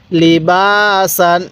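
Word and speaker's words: لِبَاسًا: আলিফ জবর বা সিন আলিফ দুই জবর সান লিবাসান লি বাসান এরকম ভাবে শিখবো এবার আমি এই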